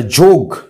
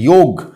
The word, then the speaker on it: যোগ: আর যেহেতু ইংরেজরা অ উচ্চারণ করতে পারে না, অকে আ উচ্চারণ করে, সেই জন্য ওটাকে ওরা বলে দিয়েছে যোগা।